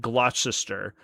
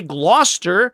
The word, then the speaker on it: Gloucester: They pulled the CE out of the pronunciation and then people would correct you when you you said it glossister. It's spelled glossister. If you want people to say gloester, spell it g l o s t e r.